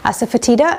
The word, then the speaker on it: asafoetida: One of them is this, which is called asafoetida. Asafoetida comes in jars such as this at local Indian stores, and you can also get it online. So it's spelled A-S-A-F-E-T-D-I-A. T-I-D-A, sorry, asafoetida, and it, in the Indian language it's called